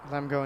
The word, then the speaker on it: Lemgo: Did we just call him Lemgo? Is that right, Lemgo? Lemgo, indeed. And what's the other one?